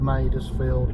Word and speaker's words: Madresfield: we're going to um a place called made us field called I think that's how it's pronounced anyway it's near Malvern